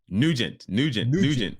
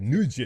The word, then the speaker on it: Nugent: And let me tell you, I'm gonna pronounce your last name, and I hope I pronounce it right. Right. Nargis. Nugent. Okay, Nugent.